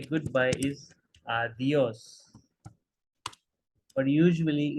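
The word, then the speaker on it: adiós: it means that uh you need to give a little bit more stress on this world right as the adios uh dios adios and again H is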